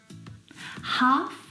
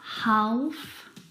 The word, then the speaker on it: half: Words like salmon, not salmon, half, not half, would talk, walk. All of these words have a silent L in them, which makes them a little bit tricky to pronounce correctly.